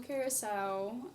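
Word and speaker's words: Blue Curaçao: Blue curacao.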